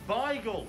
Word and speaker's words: Beigel: you say the bagel okay it's bigel it's a bigle it's a bigle it's